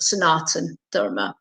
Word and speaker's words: Sanatana: tradition sonata nadoma which actually spells but is pronounced sanatana i if i was somebody who was not